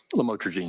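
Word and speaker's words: lamotrigine: about the u the lam otherwise known as lamatroine. Did I pronounce that right? Lamotraine.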